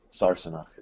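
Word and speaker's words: Sassenach: I know it's still pronounced Sarsenok.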